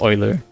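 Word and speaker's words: Euler: Like uler is pronounced Oiler. Yeah. Oiler.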